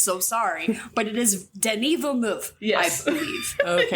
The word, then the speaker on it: Denis: wrong, and somebody's like, his name isn't Dennis, you idiot, it's Denis. And I was like, Denis. okay, well, it's spelled like Dennis, so sorry, but it is Denis Villeneuve, Yes.